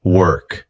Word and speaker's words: work: It does not rhyme with walk.